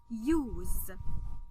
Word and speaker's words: use: And just look at the letter U, then consonant, then silent E, and that's how you're going to understand how we pronounce the word use.